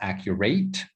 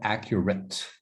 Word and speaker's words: accurate: So it's not accurate, but accurate. Accurate. So like, phonetically, it's like that, accurate.